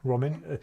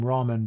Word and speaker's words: Ramin: hi rahman very good my name's actually roman roman it's funny though because american people always pronounce my name ramen because they have noodles there which sound like